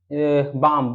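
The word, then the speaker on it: balm: इसका हम पढ़ेंगे हम बाम बाम का मतलब होता है मलहम यहां पर बी ए एल एम एल यहां पर होगा साइलेंट वर्ड सिर्फ ज्यादा कुछ नहीं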